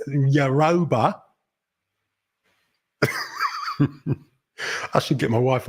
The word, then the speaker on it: Yoruba: It's Yoruba. I should get my wife up here to actually tell us how we pronounce it properly.